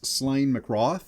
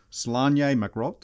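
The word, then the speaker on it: Sláine mac Roth: the characters full name is slain McCraw hmm that's how us in America would say it however that is not how you actually say it this is a Celtic name so it's print actually pronounced salon yamicraw okay I love when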